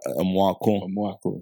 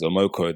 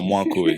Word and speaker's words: Amwako: Amwako. Yeah. But a couple people over here failed to pronounce it correctly. Yeah. And they pronounce it as Amoko.